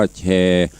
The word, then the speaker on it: แชร์: ได้ พวก เขา นะ มี สระแอ รอ เรือ ไม่ การันต์ อ่าน ว่า แชร์ เอา มือ ไป จี้